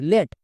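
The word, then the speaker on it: late: এল এ টি ই লেট একে lead বলা চলবে না।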